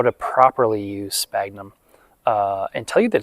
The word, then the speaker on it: sphagnum: I call it sphagnum, but it's spelled S-P-H-A-G-U-N-M. Basically, it should be called sphagnum, but I think most people, at least most people that I talk to, call it sphagnum with a hard P.